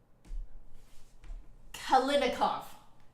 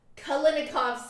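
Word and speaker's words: Kalinnikov: making my um video about it Bulletin uh kalinikov kalinikov Symphony Number One it's really pretty very luscious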